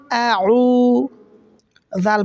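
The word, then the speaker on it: أعوذ: তাহলে নামাজ হবে না বলতে হবে আউ জাল পেশ জু নরম করে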